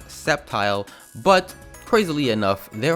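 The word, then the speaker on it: Sceptile: need to argue that it's septile and not skepti but I did want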